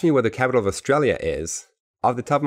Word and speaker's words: Australia: We have Australia, and you emphasize Australia, that syllable.